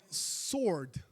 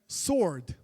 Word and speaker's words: sword: 그래서 그냥 sword 이렇게 돼요. 해볼까요? sword W 발음은 많이 없어요. There's no W sounds here.